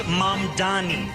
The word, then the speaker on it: Mamdani: And furthermore, the name is Mamdani. M-A-M-D-A-N-I. You should learn how to say it because we got to get it right.